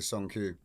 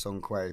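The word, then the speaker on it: Sông Quê: And I mean, I learned recently it's pronounced Song Quay, but well, I can't bring myself to say it just in case someone's like, what? Yeah. You changed. But it is, but it is, it's Song Quay.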